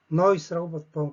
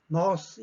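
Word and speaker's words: nós: 1인칭 복수, noise라고 발음하죠. 그죠? 보통 보면 또박또박 발음할 때는 nose, 입을 크게 벌리고 아센토 아구드이기 때문에 입을 크게 벌리고 발음을 합니다만은 실제 현지에서 들어보면 noise라고 들립니다.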